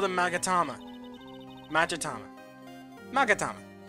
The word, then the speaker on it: magatama: her spiritual Powers well I got a magatama also when I first played this game and I got this I keep mispronouncing it to magama to magamama not sure why all right